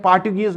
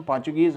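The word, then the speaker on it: Portuguese: उन्होंने पुर्तगाल या पोर्चुगल भी इसको पढ़ते हैं, और ऊपर इसको पोर्चुगीज पढ़ते हैं। पोर्टुगीज नहीं पढ़ना है, इसकी प्रोनाउंसिएशन पोर्चुगीज है।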